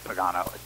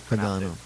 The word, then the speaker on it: Pagano: I'm not sure why, but they used to call me Pagano, but it's Pagano. Pagano.